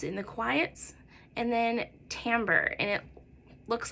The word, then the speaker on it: timbre: And then timbre, and it looks like timbre, but it's pronounced timbre.